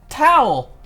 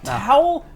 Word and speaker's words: Tao: get tired you say towel did he just say his name was towel it's tau t-a-o oh no explanation his